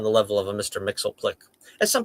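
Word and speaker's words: Mxyzptlk: Mixelplick, as some people call him, Mr. Mixius L. Plick, or something like that. I don't know. I mean, I have my own. The way I read these like unpronounceable names is whatever my mother said when she read them to me as a kid. She said Mr. Mixelplick. He's Mr. Mixelplick. That's just the way it goes.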